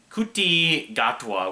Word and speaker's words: Ncuti Gatwa: His name is NCUTI GATWA, which NCUTI first name.